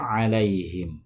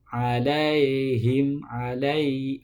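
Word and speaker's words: عليهم: Nah, yang selanjutnya dalam lafal alaihim. Sama, ain dalam lafal alaihim itu di tengah tenggorokan. Alaihim, alaihim, bukan dibaca alaihim.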